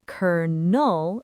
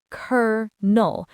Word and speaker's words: colonel: Let's start by breaking down the sound. It's just two simple syllables. The first syllable gets all the stress. Cur. This is the strong, long part of the word, right? The energy is all on that first beat. It's not kernel, it's curl. The second syllable, null, is unstressed, meaning it's quicker and softer.